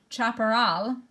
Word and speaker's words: chaparral: And so the biomes, they're pronounced tundra, taiga, deciduous forest, chaparral, it's Spanish-based, grassland, savanna, savanna, here you go, you're in a science lesson, rainforest, and desert.